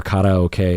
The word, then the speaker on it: karaoke: And I don't know about you, but the first 20 times I did karaoke, or karaoke as it's more accurately pronounced, were very important to me.